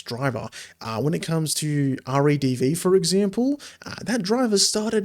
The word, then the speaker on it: RADV: it took quite a while for RADV, is how you actually pronounce it.